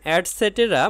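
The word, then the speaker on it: et cetera: ধানক্ষেত বা ধানের মাঠ ইটিসি এর উচ্চারণ অ্যাডসেটেরা মানে ইত্যাদি তাহলে ইন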